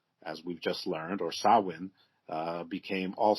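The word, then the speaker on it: Samhain: Oh, we just got sawin is the actual pronunciation.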